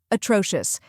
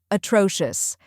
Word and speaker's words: atrocious: have uh which is a quick unstressed sound like the a in sofa next is t r